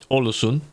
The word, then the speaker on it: Ålesund: Ålesund. There's bass in the back of that. Ålesund. Because it's like Ålesund. Okay. Not Sund. You don't say the D.